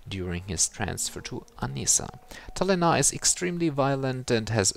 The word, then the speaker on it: Talénah: I think we shall now go into the Midorian most wanted roster, and the next one is in Mr. Talénah, with an accent on the E.